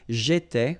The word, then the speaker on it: j'étais: J'étais, okay? Remember, here we've got accent aigu, so it goes like et, all right? J'étais.